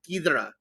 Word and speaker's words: Ghidorah: Ghidorah. It's not Ghidorah, actually. People keep saying it's Ghidorah. It's actually Ghidorah. King Ghidorah. That's actually how the Japanese say it, is Ghidorah.